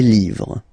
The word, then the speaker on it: livres: Les, and then same rule, you just write livre, and then you put S at the end, but then you don't pronounce it. Les livres, le livre, les livres.